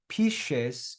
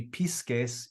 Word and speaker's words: pisces: It's pronounced pisces in Christian Latin. It would be pisces in classical Latin.